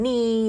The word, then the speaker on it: knee: When a K and an N come together, the K is silent. We just say that the N. Like in knee or night or knife. And this isn't the night